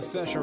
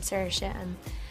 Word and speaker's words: Saoirse: Rising Irish star Saoirse Ronan has always had trouble getting people to pronounce her name correctly, until she hit on telling them that it rhymes with inertia.